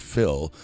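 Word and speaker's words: fuil: The average man or common run of humanity is comprehended in the term Philistine, taken from the Irish word f u i l pronounced fill, meaning blood and also signifying a family or tribe.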